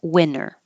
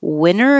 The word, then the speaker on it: winter: breathtaking view breathtaking view winter can sound like winter or no T winner and I don't usually pronounce the T winner in daylight savings time